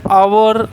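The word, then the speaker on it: hour: ठीक है, जैसे कुछ एग्जांपल से आवर, ठीक है, ऑनरेबल, ठीक है, are pronounce as आवर and honourable.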